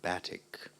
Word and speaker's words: batik: in the textile industry batik am I pronouncing the word correctly sure you can also pronounce it batik batik b-a-t-i-k batik well done